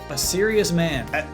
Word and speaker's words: Asterius: Asterius? A serious man. We only is it fun. No, because it's not spelled like a serious man, but it's a serious man.